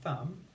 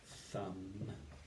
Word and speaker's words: thumb: We can see in thumb that we have the MB spelling of the sound at the end. Thumb. Thumb.